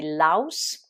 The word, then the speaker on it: louse: Le pouls qu'on a dans la tête, donc au singulier c'est louse avec ou comme dans mouse, et au pluriel c'est lice avec i qui se prononce I, comme dans mice, les souris.